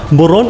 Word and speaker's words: muron: Muron is pronounced like murong.